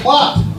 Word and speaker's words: glad: go happily walking along it means slippery because they pronounce it clot you know you're all